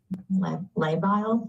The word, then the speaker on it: labile: The next sentence here says her mood has been labile. Am I pronouncing that correct?